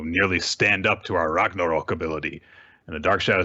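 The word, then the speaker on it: Ragnarök: with his new technique ragnarok it's not ragnarok there's an umlaut in there so you have to use the proper pronunciation why is everyone else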